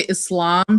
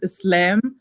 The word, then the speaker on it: Islam: because she doesn't say Islam she says Islam but and then people were it's not Islam like lamb actually it's in Egyptian that's how you pronounce it and I guess because